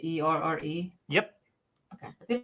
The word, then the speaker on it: Auxerre: If you're looking for it, because the pronunciation's crazy, it doesn't look like how it's spelled. It is Auxerre, French League 2, first place team.